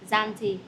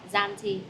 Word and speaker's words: Zante: Okay, so Zante is the z sound. Janti. No, z. Zanti. Đúng rồi. Zanti.